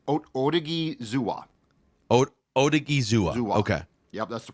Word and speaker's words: Odighizuwa: The pronunciation I found was Odighizuwa.